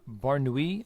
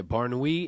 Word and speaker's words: Mansour Barnaoui: in the lightweight division maner uh barui I believe is how you say the name JJ Wilson is his